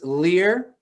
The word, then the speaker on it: Leuhr: sure thing thanks mark my name is lear i got no justification for the pronunciation but that's how it goes uh owner of